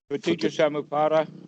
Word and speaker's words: Paticca Samuppada: I don't know how to pronounce it. I've only seen it written. You mentioned it a few moments ago. Paticca Samuppada.